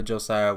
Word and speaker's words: Joxcya: I am Josiah, that's Joxcya, pronounced just like the regular Josiah, which I am also, and I want to welcome you today.